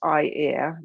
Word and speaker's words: Eyre: And so this is pronounced I-ear, like your eye and your ear, Icelandic spelling. So it propagated south.